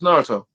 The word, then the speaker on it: Naruto: What's the pronunciation, Steph? Uchiha. No, not that. Naruto. I haven't really gotten into Naruto. It's Naruto.